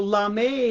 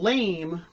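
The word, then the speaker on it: lamé: at that that's real la may baby not lame but l-a-m-e accentuated for the french pronunciation of la me that's how i dress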